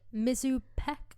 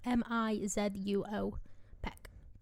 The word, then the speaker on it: Mizuo Peck: And she's played by Mizu Peck. I might have said her first name wrong. Mizuo Peck.